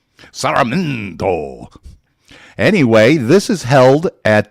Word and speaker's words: Sarmiento: Master of ceremony is Esteban Sarmiento, and you need to pronounce his name that way when you see him. Sarmiento.